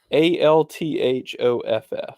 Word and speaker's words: Althoff: I think that's how you pronounce it. Bobby, Althoff. Until you Bobby just said her, I was Altroff.